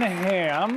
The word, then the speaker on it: Hamm: And then it says here, John Hamm. Hamm, it's pronounced Ham. John Hamm, Keegan-Michael Key, and Adam Pally.